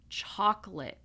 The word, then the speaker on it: chocolate: Now some people will say veG vegetable I say vegetable so you can choose vegetable chocolate notice it's two syllables chocolate Wednesday and finally